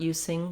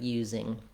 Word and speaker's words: using: Another good example, using, sounds like using. So making sure you have that Z sound, not using, but using.